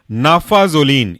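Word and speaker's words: naphazoline: ई oxy Meta जोलीन next example है आपका नाफा जोलीन स्पेलिंग ऐसे होगा नाफा एन ए पी एच ए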